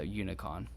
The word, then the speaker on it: unicon: or something like that but it looks like unicorn but spelled without the er so unicon so you see i'm